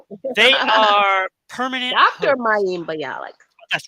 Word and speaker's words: Mayim Bialik: Jennings and Mayim Bialik, is that how to pronounce her name? Yeah, that's close Um, enough. they are permanent Dr. hosts. Mayim Bialik.